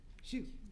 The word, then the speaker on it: Xu: Looks like the last name is XU. Shu.